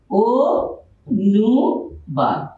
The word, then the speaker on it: অনুবাদ: যেন আমরা যদি লিখি অনুবাদ, এর উচ্চারণ কি হবে? ও নু বাদ। শব্দের শুরুতে অধ্বনি আর তার পরবর্তী বর্ণে রসুকার, সুতরাং এই অটা ও হয়ে গেছে।